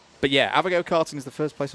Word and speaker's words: Avago: It's actually pronounced Avago. Oh. Yeah. A V A G O, Avago.